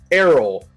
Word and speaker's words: Arrol: I have a post-it note that says I now have a post-it note, Mark, that says Arrol like Air Jordan.